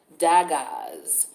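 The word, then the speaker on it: Dagaz: The challenge in this situation is the rune called Daggaz. It's spelled D as in David, A, G as in goat, A, Z as in zebra.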